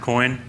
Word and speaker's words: Coyne: It's pronounced Coyne.